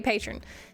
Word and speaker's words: Patreon: Yes, this is a Patreon um or patron, however you want to say it. It's it's spelled Patreon, but most people just say patron, but it is a Patreon SMP.